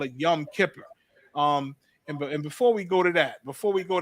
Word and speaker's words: Yom Kippur: celebrating a Yom Kippur Yom Kipper that's the Yiddish uh pronunciation of our ancient Hebrew your woman caparium they call it Yom Kippur um and before we